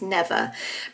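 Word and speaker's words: Neva: main character who's called I think it's pronounced never I was pronouncing it NE in my head and then when I listened to the audio book it's never but um never is a 15-year-old girl in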